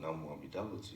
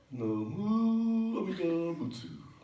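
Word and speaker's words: Namo Amida Butsu: Not NamoAmidaButsu. Yeah. That one. No. NamoAmidaButsu. Well, that's pretty good, Freddie, but you don't have to put the emphasis on the mu.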